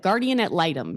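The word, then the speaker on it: guardian ad litem: Um I call it a g but guardian ad litum. Is that how it what it is? Guardian ad lightum. Lightumm. Guardian at lightum.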